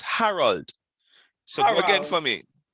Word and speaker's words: Harold: You're saying Arnold. It's not Arnold. It's Harold. There are two different names.